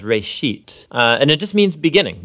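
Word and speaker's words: Bereshit: of it's called Genesis Genesis comes from a Hebrew word it's pronounced race sheet and it just means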